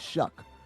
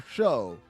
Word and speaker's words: Shough: He spells it Shough, but I have to Google how you say it. You say it Shuck. I was like, is it Shuff or Show? And they're like, Shuck.